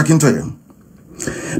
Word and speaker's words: Akintoye: I want to pronounce it correct. Professor Akintoye.